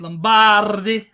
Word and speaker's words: Lombardi: It's Lombardi, where I'm from.